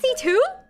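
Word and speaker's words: C.C.: CC is pronounced C2?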